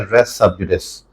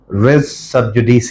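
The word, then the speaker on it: res sub judice: miss pronounce करते हैं उसकी जो प्रोनंसिएशन हम यूजुअली सुनते हैं वह है रेस सबस जबकि इसकी करेक्ट प्रोनंसिएशन रे सब जुडी स है रिच सब जुडी स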